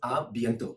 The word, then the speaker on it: à bientôt: Well, there is another word which is see you soon is à bientôt.